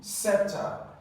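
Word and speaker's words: sceptre: let's just suspect that option b septer so for this you're going to have s this C is silent here is not PR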